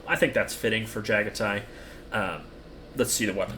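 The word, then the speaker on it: Jaghatai: Jagatai, not Jag because that's Jagati. Would it not be pronounced that? Jagaticon, but it's Jagatai.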